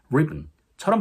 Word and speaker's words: ribbon: 그 밖에도 이제 리본 같이 강세가 처음에 있는 단어도 ribbon처럼 발음되기 때문에 리본이라고 발음하시면 상대방이 캐치하지 못할 확률이 높으니 참고해주세요.